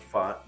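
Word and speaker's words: Pfaadt: fat f f f it is pronounced fought ladies and gentlemen but Brandon fought looking for his first postseason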